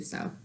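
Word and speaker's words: sew: a moment to do so. Chapter 8. So what? It's spelled S-E-W, though, not so like S-O.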